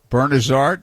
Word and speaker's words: Bernazard: me and he says will you tell that guy to pronounce my name right bernazzard i said okay i'll say something so i said to norm norm it's bernazard he said okay and